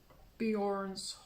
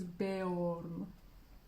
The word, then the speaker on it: Beorn: Ну, я его Bjorn произношу по привычке. Ну, потому что шведское имя или норвежское имя есть Bjorn. А вообще, по идее, он должен быть Beorn. То есть там ударение, ну, в смысле, Beorn. Ну, ладно. Beorn. Попробуй правильно произносить.